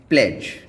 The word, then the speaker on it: pledge: Letter D जब आपका जी से पहले आता है तो ये साइलेंट हो जाता है, जैसे कि PLEDGE प्लेज। प्लेज में आपका डी साइलेंट है।